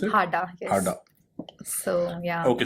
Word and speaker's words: Hada: Hada, is that how you pronounce it? Hada, yes.